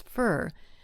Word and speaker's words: for: The word for, F-O-R, often becomes fur.